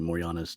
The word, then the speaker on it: Morjana: I believe it's pronounced Moriana. It's spelled Morjana.